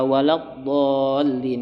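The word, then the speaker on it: ولا الضالين: Itu panjangnya kira-kira sampai 5 harokat. Waladdallin. Pada ketika dia ingin memasuk huruf lam yang bertasydid, maka ingat ya, ketika dia bertasydid dia harus ada tekanan.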